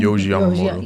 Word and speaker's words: Yohji Yamamoto: Yohji Yamamoto.